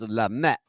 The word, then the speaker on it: Lamy: It's pronounced Lamy. But we say Lamy.